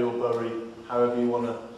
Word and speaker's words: Bury: All that stuff that we're criticised for, no doubt, in Bury or Bury, however you want to pronounce it.